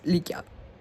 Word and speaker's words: Lykia: Yeah, it sounds like Lykia, but like it's not lake, it's Lykia.